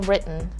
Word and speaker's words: written: Listen how I say this word. It's written. Written. So it's not written. Written is fine, especially if what you're learning is British English, but in American English, that word is pronounced as written.